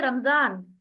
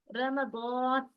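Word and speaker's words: رمضان: देखिए, अब हम लोग उर्दू में क्या पढ़ते हैं? रमजान। फारसी वाले भी रमजान कहते हैं, लेकिन सही क्या है इसका प्रोनाउंसिएशन? रमदान, रमदान, इस तरीके से।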